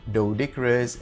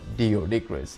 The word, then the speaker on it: Doedicurus: and I know guys it's pronounced as doas and not dioicous I've been saying doodas